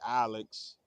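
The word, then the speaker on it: Aleks: Sound like Alex, but it's spelled al Alex.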